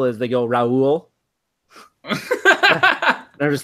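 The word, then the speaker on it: Rau: okay, it's clearly Rao, but then I was thinking like, hold on, if you're Canadian, then you would pronounce the word about a boat, and since it's ow, the like my linguistics mind is going to like, okay, well, the linguistical feature of ow in Canadian English is pronounced O, so it's Rowe, which is what every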